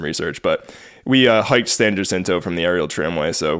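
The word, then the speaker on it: San Jacinto: funny San jento I I went back and forth with the pronunciation but it seems like locally and from what I gathered while we're out there most people call it San jinto even though it's hinto or yto which is hin in Spanish so it's actually like s hin What The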